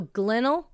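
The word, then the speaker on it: Glenelg: heard from Australians talking they have the g at the end it's spelled Glenn g l n e l g and they say it's like kennel so glennel Glen Beach Glen yes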